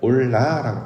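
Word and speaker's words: עֹלָה: 그래서 영원하신 하나님의 그 내용과 닮아 있는 것이 바로 번제인데 영원은 히브리어로 올람이라고 발음을 하고 번제는 올라라고 발음합니다. 우리 말도 비슷하잖아요.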